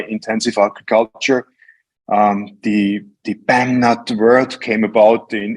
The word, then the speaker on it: Bamnut: we started using it we didn't quite know-how as the how the Americans will pronounce it and then we found out oh it's the BAM now so it all turned